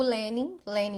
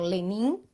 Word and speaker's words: Lenin: Porque alguns sites colocam a sílaba tônica no i, então Lenin, e É, outros no e, Lenin. Então vamos ficar com a segunda opção.